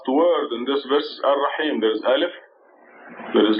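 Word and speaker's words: الرحيم: And the last word in this verse is Ar-Rahim. There is Alif. There is Lam. There is Ra. With the shadda and the fatha. So mix it the stress on the Ra. Rahim.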